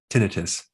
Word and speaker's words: tinnitus: Today, we're going to show you a technique on how to stop tinnitus, or you can pronounce it tinnitus.